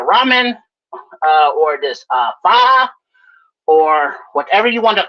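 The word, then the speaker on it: pho: So f um he Yeah, it's it's called fa. I don't pronounce it fa. I pronounce it faux all the time.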